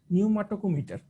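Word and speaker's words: pneumotachometer: এটার নামটা একটু কঠিন, নিউমাটোকোমিটার, মানে এটার বানানটা হলে গিয়ে এরকম যে পি নিউমোটাকোমিটার, নামটা বেশ কঠিন, আমারই পড়তে কষ্ট হয়।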